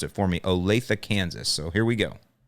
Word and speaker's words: Olathe: even know how to pronounce that until he pronounced it for me. Olathe, Kansas. So here we go. Hi, Alan. This is Jesse from Olathe, Kansas.